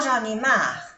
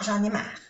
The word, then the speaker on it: j'en ai marre: Maintenant j'en ai marre. Aquí, bueno, vamos a hacer un poquito de pronunciación. C'est bon maintenant. A-I-N-1. A-N-1. Maintenant. J'en ai. Hacemos la unión, la liaison. J'en ai marre.